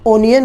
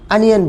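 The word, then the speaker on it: onion: लोग प्याज को उसमें स्पेलिंग ओ से शुरू होने के कारण ओनियन बोल देते हैं। आप ऐसी गलती ना करें, आप प्याज को इंग्लिश में अनियन बोलें, और यही इसका सही उच्चारण है, मीन्स प्रोनाउंसिएशन है।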